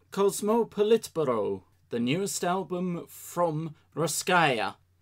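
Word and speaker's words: Russkaja: welcome to Once More With Feeling, Ruskaya Kosmopolitburo, the newest album from Ruskaya. Only recently found out that that's the proper pronunciation for that band's name. Oh, Ruskaya. I was just reading as Ruskaja, but yeah, that probably makes more sense.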